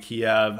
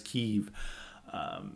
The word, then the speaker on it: Kyiv: years been calling it Kiev. And now they just suddenly told us that we have to start pronouncing it as Kyiv.